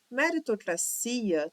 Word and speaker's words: meritocracia: Meritocracia também é uma meritocracia. Aqui separa, fazendo com que o si seja a nossa sílaba tônica.